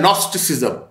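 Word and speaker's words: Gnosticism: फिर सोने पर सुहागा, एक हमारी फील्ड है नॉस्टिसिज्म, इसकी स्पेलिंग होते GNOS, कहीं आप ये ना फिर सर्च करते रहे कि भाई NOS का हमें मिला है कि ये जी साइलेंस है इंग्लिश के उसके ग्रामर के अंदर जो उसके फोनिक्स हैं।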